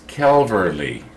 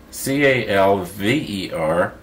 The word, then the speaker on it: Calverley: My last name is Calverley. C-A-L-V-E-R-L-E-Y. Calverley. And that's the way you say it. People get it all mixed up with, you know, like the cavalry, you know, the guys